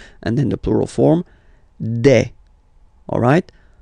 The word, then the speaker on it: des: Okay, and then the plural form, des. Alright, here, ES, you pronounce it like E.